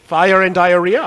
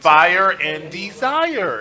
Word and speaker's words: Fire and Desire: fire and what did you call them Teddy fire and diarrhea is you isn't that I don't think you're pronouncing that right fire and desire is so you hold on